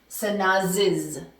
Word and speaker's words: Sanaz's: But remember, the pronunciation is going to change. It's going to be Carlos's computer. Carlos's. Sanaz's.